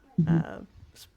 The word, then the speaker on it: Naval: Naval. I know it's spelled naval. His name is Naval.